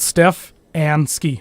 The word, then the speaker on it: Stefanski: It take me forever to say his name right. I always want to say it differently, but so I have it on here, literally spelled Steph and ski. so I know I say it right.